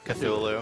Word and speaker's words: Cthulhu: Cthulhu. Yes, Okay. I feel bad that I could not pronounce that on the first try because I've seen the word over and over.